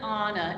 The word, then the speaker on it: Anna: She pronounces it Anna, A-N-N-A.